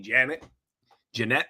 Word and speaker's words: Jeanette: So, I like to call it Janet too as well, but apparently the correct pronunciation is supposed to be Jeanette, whatever you want to call it, but I call it Janet.